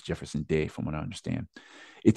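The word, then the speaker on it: Jeferson De: did from what I understand is how it's pronounced I've always said Jefferson G but it's Jefferson Dave from what I understand it tells the story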